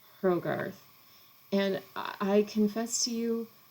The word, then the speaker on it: Hrogarth: an unusual one um i pronounce it hrogarth so with a soft h at the beginning herrogarth and i confess to